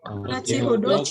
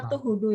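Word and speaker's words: 後ほど: Kanjinya atau, tapi jangan dibaca atau hodo ya. Bacanya nochi.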